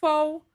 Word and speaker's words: faux: Were you saying faux locks? I'm FAUXL. sorry. Wait, I'm you so saying sorry. fox locks? That's how you pronouncing the I, word I faux? I thought that's what the girlies were saying. I thought they were saying fox. So it's Wait. faux locks. Yes, It's, FAUX, like faux means not real.